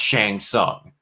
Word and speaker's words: Shang Tsung: of mortal kombat because shang tsung is pronounced shang sung and i've always heard